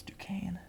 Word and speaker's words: Duquesne: It's Duquesne. Duquesne. Learned that today. Never in my life have I been able to pronounce that.